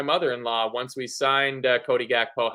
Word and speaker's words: Gakpo: In Dutch, the pronunciation is Gakpo. And if we sign him, Gravenberch. My in-laws are all Dutch, and I asked my mother-in-law once we signed Cody Gakpo how to pronounce it,